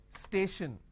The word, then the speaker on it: station: an example for example station now when I have station I have stay Ed chin the t i o n basically I can say s h i o n station right so t i